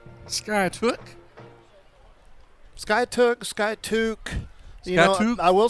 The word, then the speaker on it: Skiatook: I'm like how do you say he says skyatook oh what's this guy took I do too